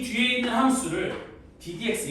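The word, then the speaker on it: d/dx: 이거는 이 뒤에 있는 함수를 ddx 이건 이제 ddx라고 읽는 거거든. dx분의 d라고 읽는 거 아니에요. 그냥 ddx라고 읽는 건데 얘는 이 뒤에 있는 함수를 x에 대해서 미분하라는 기호예요.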